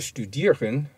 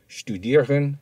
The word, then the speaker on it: studieren: And notice that the ST has the sound of sht, S-H-T. See the glossary for the difference between studieren and lernen.